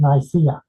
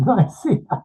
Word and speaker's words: Nicaea: And I hope you pronounce both of the A's in Nicaea.